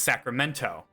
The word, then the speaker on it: Sacramento: Another example would be uh Sacramento. I don't pronounce the T. It's Sacramento.